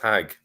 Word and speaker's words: Hajj: So first of all, the way the word Hajj is pronounced in Egypt and Yemen is exactly the way it's pronounced in Hebrew. It's still pronounced Hag.